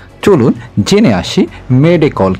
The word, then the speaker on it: মেডে: তিনি মেডে শব্দটি বেছে নেন ফরাসি শব্দ মেদে থেকে, যার অর্থ আমাকে সাহায্য করুন। ইংরেজি ভাষাভাষীদের উচ্চারণের সুবিধার্থে এটিকে মেডে হিসেবে প্রচলিত করা হয়।